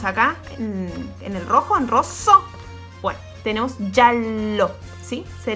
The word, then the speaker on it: rosso: Fíjate que tiene una doble S acá. Entonces, cuando hay una doble consonante, yo tardo un cachito más en pronunciarla, ¿sí? Rosso, no es rosso. Si yo me acerco a un italiano y le digo, ¿color de rosso? No me va a entender. Es rosso, ¿sí?